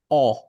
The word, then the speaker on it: Ö: উচ্চারণটা কি হবে ভাই? অ।